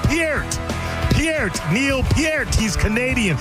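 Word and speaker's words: Peart: Neil Pier's last name is pronounced P E R T like the word pure with a T at the end, not like the shampoo P.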